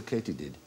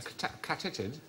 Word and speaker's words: katydid: Why might they be called a katydid? A catitid? No, it is actually pronounced katydid.